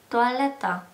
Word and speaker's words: toaleta: 투알레타. 토일릿. 씨랑 발음이 굉장히 비슷하죠?